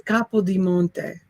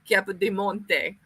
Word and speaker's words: Capodimonte: It's Capodimonte. Capodimonte. Capodimonte. Capodimonte. It's like it's not cappuccino, you guys.